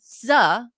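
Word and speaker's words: Sze: The bank allowed one criminal based in Queens, New York, David Z, I think it's pronounced S-Z-E, S-Z-E, Z, to move more than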